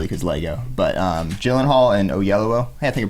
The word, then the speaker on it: Oyelowo: But Gyllenhaal and Oyelowo, hey, I think I pronounced it right.